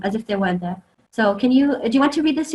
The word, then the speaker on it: ص: Some people accidentally sort of make it sound like it's a scene, assa, but actually it's sod.